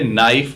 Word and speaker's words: knife: नाइफ में के लगा तो है पर वो साइलेंट है, उसकी कोई आवाज नहीं है, इसे नाइफ बोला जाता है।